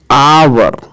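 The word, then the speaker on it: hour: लेकिन यहाँ पर जो उच्चारण है वो कुछ ये आवर, तो आवर जो है इस कारण इसका यहाँ पर क्या लगेगा, एन लगेगा।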